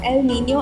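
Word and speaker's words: El Niño: what what is that they're pronounced as El Nino and La Nina this translates to the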